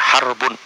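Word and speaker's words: حرب: peperangan itu pakai huruf ha ro ba bacanya harbun bukan hirab harbun peperangan Adapun kalau menggunakan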